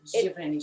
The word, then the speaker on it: Giverny: I've got a colour called Giverny. Have I pronounced that correctly, Fanny? Giverny. Giverny.